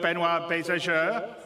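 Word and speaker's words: Benoit Beausejour: And without me waffling on, I'd like to bring CIG's CTO, Benoit Bézageur.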